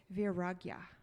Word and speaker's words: Vairagya: it's because it's a tricky Sanskrit word to pronounce, and it's Vairagya.